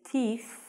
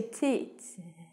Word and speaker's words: teeth: sounds like you say tits. Tits. Tits. It sounds like you say tits. Don't say that. So, tooth and teeth. You must stick out your tongue to get the pronunciation of this word correct.